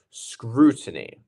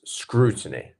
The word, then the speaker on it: scrutiny: those two dots there it becomes a lengthened vowel sound scrutiny and we have our stressed first syllable as well not scrutiny it's scrutiny absolutely very good number three